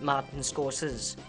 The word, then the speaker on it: Martin Scorsese: I've even worked for his Martin Scorsese, It's actually pronounced Martin Scorsese.